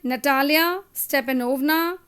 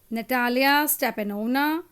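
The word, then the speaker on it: Natalya Stepanovna: है बहुत सारे बच्चों को जैसे इसका जो प्रोनाउंसिएशन है वो है स्टेपेन स्टेपेनोवेक शुबकोव ठीक है नेक्स्ट है नटालिया स्टेपेनोवना नटालिया स्टेपेनोवना इवान वासिलवेज लोमोव तो तुम्हें अगर ये सारे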